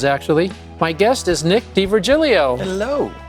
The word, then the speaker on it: D'Virgilio: my guest is nick d virgilio hello five syllables in your last name correct it's a long